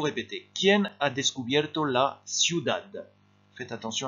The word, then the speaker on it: ciudad: ¿Quién ha descubierto la ciudad? Faites attention à la prononciation de ciudad.